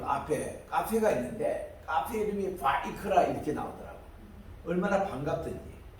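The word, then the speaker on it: ויקרא: 이렇게 저들이 이제 있습니다 세 번째 책은 리비티그스가 아니고 레위디스라고 읽지 않고 이거는 하나님이 부르셨다 뜻입니다 하나님께서 모세를 부르셨다 바이크라 이게 첫 단어거든요 바이크라 따라합시다 바이크라 이거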